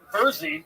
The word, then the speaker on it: Versey: The fucking Beersy triplets. Tell us something interesting about you guys. Our name is pronounced Versey triplets, like Jersey.